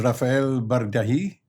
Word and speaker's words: Rafael Bardají: And our special guest today is Rafael Bardají. Am I pronouncing it correctly?